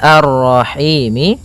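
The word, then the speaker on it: الرحيم: Maka kita baca ini kita boleh memanjangkan dua harakat, empat harakat ataupun enam harakat. Contoh arrahim itu dua harakat. Kalau ee apa namanya? Kalau empat harakat arrahim ya.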